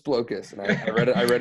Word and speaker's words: Blokus: guys like you up the Creator says it's blow kiss I read it I read it again and